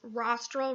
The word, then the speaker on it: rostral: rostral versus caudal is rostral rhymes with nostril rostral means towards the head your nostril is on your head so rostral nostril um similarly uh you